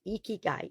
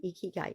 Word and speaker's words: ikigai: i k i g a i but it's pronounced e k key guy e key guy e key guy and it is a process used to identify